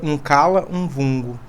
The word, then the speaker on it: Nkala-Mvungo: A pronúncia certa seria Nkala-Mvungo, que significa o senhor da terra, da colheita, da terra enquanto renascimento, enquanto novo ciclo.